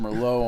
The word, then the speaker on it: Merlot: this guy likes a dash of Merlot on his oatmeal in the morning.